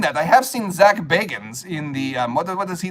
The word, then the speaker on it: Bagans: Ghost Adventures with Zach Bagans. No, it's Zach Baggins. Zach Baggins or Zach Bagans? Well, it's spelled Baggins, like Frodo Baggins, but he pronounces it Bagans.